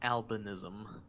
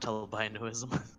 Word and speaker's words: albinism: And on the topic of words, I'm pretty sure that the condition that you were referring to is pronounced albinism, not albinoism.